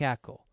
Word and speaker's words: ECO: Firstly, as everybody knows, echography is a sound technology like ECO. So, we took the same pronunciation ECO, like echography, for the easy memory.